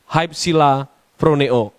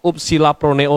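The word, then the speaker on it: ὑψηλοφρονέω: Hypsilaproneo atau upsilaproneo tulisannya, tapi bacanya juga bisa dibaca hypsilaproneo.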